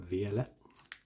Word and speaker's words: Violet: Okay, Scarlet and Violet base, or Écarlate and Violet. Violet. Don't pronounce many T's in France, so there's a code.